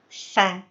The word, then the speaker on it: ث: Dan karakter yang menempel pada huruf sa itu adalah tarkik atau tipis. Sa. Jadi tidak boleh fo, tapi sa tipis.